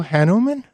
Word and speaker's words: Hanuman: her brand new book, just out, called Blue Hanuman. Yeah. Is that right? Good pronunciation.